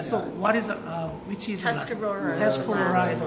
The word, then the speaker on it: Tuscarora: Could you pronounce? Mohawk, Mohawk, Oneida, Onondaga, Onondaga, Cayuga, Cayuga, Seneca, Seneca, and Tuscarora. Tuscarora.